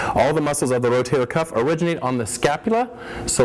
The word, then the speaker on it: rotator cuff: butchered it is the rotator cuff it is not the rotator cup it is not the rotary cup it is not the rotary cuff it is the rotator cuff it is a cuff